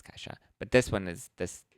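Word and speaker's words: Ke$ha: how to say that we pronounced it cat dollar sign ha no we didn't we knew it was kaisha but this one is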